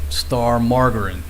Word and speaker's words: margarine: That's how they pronounce it. Star Margarine, not margarine. They use a hard G sound.